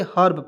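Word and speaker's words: herb: मतलब नहीं बनता है तो हेर्व नहीं पढ़ेंगे हर्ब पढ़ेंगे ठीक है जैसे यहां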